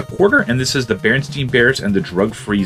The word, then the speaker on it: Berenstain: under the sea i know it's pronounced berenstein but it's spelled berenstain it's a good abgn